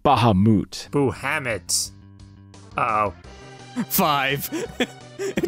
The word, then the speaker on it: Bahamut: give it to me so you're not mohamed no it's bahamut it's pronounced bahamut boo hammett oh five